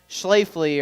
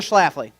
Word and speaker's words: Schlafly: to a bar and saw that schleifly or shipfly or whatever people used to pronounce it when they would see that tap handle in a bar they'd go i always have a schlafly they only would call it a schlafly i didn't know what